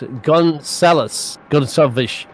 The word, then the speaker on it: Gonçalves: Apparently, how you pronounce it? Yeah, Portuguese style. Vinicius Gonçalves is the word there.